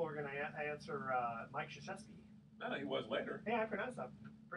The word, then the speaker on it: Krzyzewski: See, I thought people were going to answer Mike Krzyzewski. No, he was later. Yeah, I pronounced that pretty well.